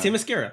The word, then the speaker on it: Themyscira: You just butchered it on purpose now. You were saying it properly earlier. Was I? Themyscira. Themyscira.